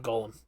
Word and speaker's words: Golem: like uh uh uh Gollum not Golem yeah Golem sorry Golem over the years I've had trouble pronouncing Golem and Gollum and I I mispronounce I switch pronounce both them so that's entirely my